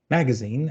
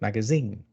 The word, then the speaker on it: magazine: So some American English words are stressed differently. Different syllable is stressed. For example, you have ballet and ballet. You have address and address. The second is British. You have inquiry and inquiry. You have magazine and you have magazine, right?